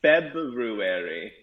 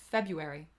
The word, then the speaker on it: February: say it like that i think that's one of those words where when i say it i say february yeah february i do